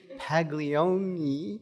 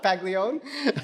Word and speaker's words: Paglione: And behind the camera, we have Dani Paglione. I think I said it wrong. Paglione? Not too Italian. I went too Italian.